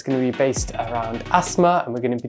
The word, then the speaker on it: asthma: ask what is asthma, how do you pronounce asthma? Because there's the T and the H. Are you meant to say it? Some people do. Okay. It depends on your accent, but I say asthma.